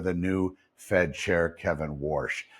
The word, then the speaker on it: Warsh: new Fed chair, Kevin Warsh. Phonetically, that's Warsh, just like that.